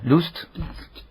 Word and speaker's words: Lust: No, ¿cómo se pronuncia Last? Decime, Lust.